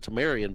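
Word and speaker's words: Tamorrion: Tamorian, man. It's got to be Tamorian, right? There's no E in his name. I know it says to pronounce it Tamarian, but there's no E there.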